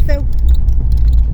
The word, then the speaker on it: FEU: Luego por otro lado está la feu, se pronuncia así.